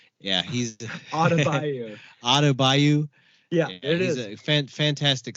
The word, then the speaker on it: Adebayo: Adebayo. Yeah, he's Adebayo.